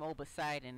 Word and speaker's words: Obidon: around but but yeah obidon is um it's kind of a twisting of the word obsidian that's how I used